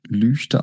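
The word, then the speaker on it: Lügde: also es ist die der Ort heißt lüchte der wird lüchte geschrieben und lüchte ausgesprochen es ist sehr wichtig dass wenn man da ist auch wirklich lüchte sagt und das ist meine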